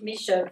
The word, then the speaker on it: Mesha: And let me just start by saying quickly, Mesha's name is Mesha, Maren.